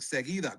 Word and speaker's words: Seguida: Yeah, there seguida. you go.